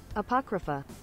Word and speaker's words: Apocrypha: I don't know how to say that word apocrypuff I feel like I should know how to say that word uh pock kripa it's not showing up on on pronounce pronounce Apocrypha Apocrypha Apocrypha Apocrypha all right and also because